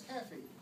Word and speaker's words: Keefe: was Cathy spelled like keth ke Fe but pronounced as caffy during a conversation I mentioned I was a